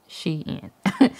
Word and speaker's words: Shein: is my Xi'an haul I know a lot of y'all like to correct me on how I'm saying she in but I looked it up and that's how you say it she in anyway as I was